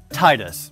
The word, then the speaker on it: Tidus: with you on that it should be pronounced titus but i'm gonna do my best to go by the canonical pronunciation so titties here is our main